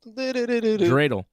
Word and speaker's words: dreidel: Yedel, yedel, yedel. Dreidel.